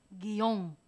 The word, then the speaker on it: guion: la península pronuncia guion pronuncia guion así lo pronuncian guion y Tal parece que hay una separación un espacio entre la i y la o pero ahí hay un diptongo y los diptongos no se pueden romper porque son un